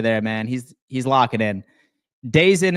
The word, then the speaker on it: DAZN: Dazen is pronounced DAZN.